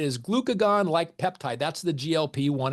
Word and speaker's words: GLP-1: That's the GLP-1. It's not pronounced gulp, even though you gulp food, and that's kind of the whole point here.